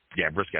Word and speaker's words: Brissett: more so keep Jacoby Brissett or Brisket, I think how you say it. Brissett, how you say his name? Brissett, yeah.